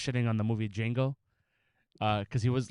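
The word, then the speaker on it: Django: ] on the movie D Jango uh cuz he was like H how are you going to tell him your name is jeno but the Jay is silent but you're a slave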